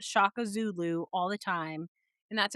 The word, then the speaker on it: Shaka Zulu: Ruth and Shakaluzu. I think that's what it is. Shakazulu. Oh, totally messed that up.